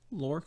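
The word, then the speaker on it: Lhorke: we have um lorc l-h-o-r-k-e would you say that's work how would you pronounce that lork yeah yeah so i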